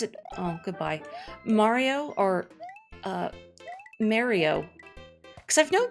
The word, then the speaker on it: Mario: Mario or, Mario? Because I've known people, like, that pronounce it Mario, like their name.